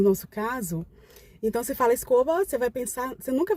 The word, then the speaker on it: escoba: Você se escreve escoba e se pronuncia escova, né? Mais ou menos assim, um B arrastadinho pro lado de V.